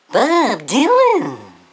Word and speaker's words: Bob Dylan: Bob Dylan. B-O-B-D-Y-L-A-N. Bob Dylan.